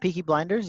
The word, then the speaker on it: Peaky Blinders: yeah that's how you say it pikas got peaky blinders yes order by the peaky blindness like you